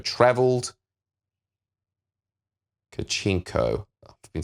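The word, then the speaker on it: Kharchenko: was said during that encounter remains unknown, and Karenchko travelled... Kachenko.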